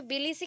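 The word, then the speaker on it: Tbilisi: अभी बिलीसी का spelling T से ही स्टार्ट होगा, बट बी, टी के बाद बी आता है, just like pneumonia. Pneumonia N से नहीं स्टार्ट होता ना, पी से स्टार्ट होता है, पी साइलेंट है, वैसे यहाँ पे टी साइलेंट है।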